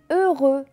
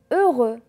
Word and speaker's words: heureux: muet va-t-on va voir le h muet ça veut dire qu'ils ne se prononcent pas aussi regarder avec moi